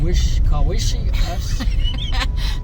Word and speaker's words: Kawishiwi: Our hillbilliness wants to say Kawishiwi, but the lady, the forest worker, said no. I had to make her say it like twice. I can say it if I see it. Kawishiwi. Okay, see that wish in the middle? That throws us off.